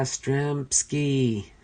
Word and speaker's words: Yastrzemski: the Red Sox is unable to properly pronounce Yastrzemski 'he's name and it has to be corrected by the surrounding fans yeah Stremme ski yeah Stremme ski the